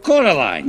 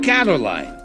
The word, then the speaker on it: Caroline: They call you Coraline instead of Caroline. Not Caroline at all.